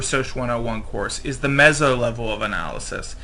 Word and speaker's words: meso: And one thing you may not have addressed in your Social 101 course is the meso level of analysis. It's said meso. It's sometimes spelled M-E-Z-Z-O. It's sometimes spelled M-E-S-O.